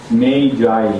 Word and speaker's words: Magi: 라틴어로 하면 그냥 막이지만 영어는 자꾸 사람들이 이 발음을 갖다가 다르게 하니까 그러면 Magi 이렇게 읽어야 되죠.